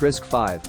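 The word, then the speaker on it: RISC-V: borders at issue is risk V pronounced risk 5 an open- Source technology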